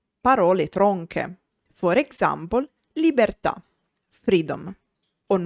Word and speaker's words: libertà: A word is tronca or ossitona when the accent is on the last syllable. For example, libertà, freedom.